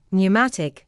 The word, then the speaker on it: pneumatic: The letter P is silent in words such as psychic, psychiatry, pneumatic, receipt, pseudonym, and psychology. The letter B is silent